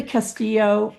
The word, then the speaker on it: Castillo: Linda Castillo, welcome, welcome, welcome. And am I pronouncing your last name correctly?